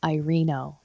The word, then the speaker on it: Irino: How do you pronounce your name? Because I mess it up every time. It's okay. It's Irino. Irino. It's not spelled like that. It's spelled like Irino. I know. Well, it's because I'm half Italian, so it's technically pronounced Irino. But my redneck family all grew up in the Wild West, and it's Irino.